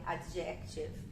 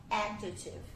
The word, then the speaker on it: adjective: Então eu separei essa justamente porque é bem comum as pessoas falarem adjective, né? E na verdade a primeira sílaba que é a sílaba tônica. Então a gente fala adjective.